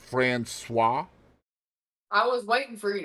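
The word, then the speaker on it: Françoise: passed away from cancer did you know that's pronounced fruis I was waiting for you to say it yeah cuz K was Katie was going to be like Frank Koy I was going to say Fran no that's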